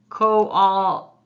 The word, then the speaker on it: koala: The syllables are ko-wal-a, ko-all-a, ko-wal-la. Yes, this bear is a koala bear, right? Ko-all-la. He's a hard one to blend into syllables because those vowels in those two syllables get like mixed pretty strong.